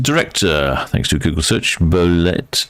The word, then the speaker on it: Bolette: thanks to Google search bolet is pronounced boleta well that makes absolutely